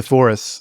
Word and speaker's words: Sepphoris: Am I pronouncing that correct? Sepphoris. Yeah, it's Sepphoris.